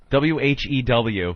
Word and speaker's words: whew: W-H-E-W, because it rhymes with blue, jet blue.